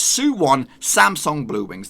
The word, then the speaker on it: Suwon Samsung Bluewings: it is Suwon Samsung Bluewings now if I butchered that name maybe but this is the how you're supposed to say it it's Suwon Samsung Bluewings the last two was pretty easy and just